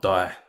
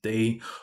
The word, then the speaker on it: Dy: Today we'll be checking out Love Yourself, Sorry, What Do You Mean, and Baby Mashup, Justin Bieber cover by Jason Day. Pretty sure it's pronounced D and not die, I think.